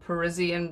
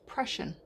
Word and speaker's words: Prussian: quite a lot because it's not, it's Prussian. If you look at the way it's spelled, it actually looks like Russian, but with a P on the front.